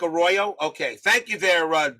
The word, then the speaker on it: Arroyo: nothing Phillies after eight it's just a Roy Arroyo that's how you pronounce it Arroyo okay just like Arroyo okay thank you there